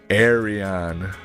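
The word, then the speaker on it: Ayreon: how to pronounce the name of this band pronounce Aron Arion thank you and their album Into the electric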